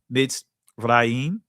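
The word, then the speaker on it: Mitzrayim: And um the ancient Hebrew word matsar yam or matsar raayam uh in the Israeli is pronounced mid raim.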